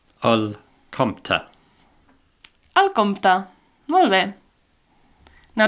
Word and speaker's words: el compte: The word for bill is simply el compte. El compte.